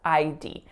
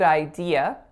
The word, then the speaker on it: idea: say it like I just said it as ID so be really careful of that if French is your native language so good idea is how it should be pronounced next up